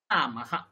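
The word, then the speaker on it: রামঃ: দীর্ঘ হয়ে যাবে হাটা উদাহরণ নিন রামাহা ম এর পর আকার আছে তারপর বিসর্গ আছে রামাহা রামাহা কিন্তু যখন দেখুন লতা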